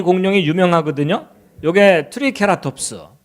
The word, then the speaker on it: Triceratops: 요게 트리케라톱스. 영어 발음은 뭐 트라이세라톱스 뭐 이러죠.